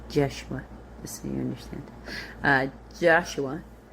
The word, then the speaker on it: Joshua: Joshua would not have been pronounced Joshua, and there it would have been pronounced Jeshua, just so you understand.